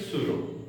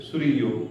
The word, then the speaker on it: Sorrieu: अब मैं इसको सूरो बोलता, आप अपने तरीके से इसको प्रोनाउंस कर, तो ये फ्रेंच लैंग्वेज है। फ्रेडरिक सूरो भी बोल सकते हो, सूरियो कह सकते हैं आप।